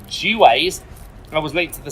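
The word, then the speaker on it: Juwes: city of london police others believe that j-u-w-e-s was actually pronounced g-waze i was linked to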